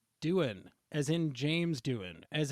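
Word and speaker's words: Doohan: we started recording of how you would pronounce that doin is the actor's last name but i think they pronounce it do han in this um dubbed version so duhan is what we're going to go with um but yes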